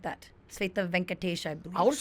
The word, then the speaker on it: Svetha: Oh, it's a Svetha Svetha. and not Shweta. Svetha. Okay. Svetha. Yeah, My dad wanted to be like, That's the Telugu pronunciation thingy of But it.